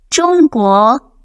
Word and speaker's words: 中国: 中国, I taught how to pronounce the letter ZH in the second lesson. This should be done with J or HA sound.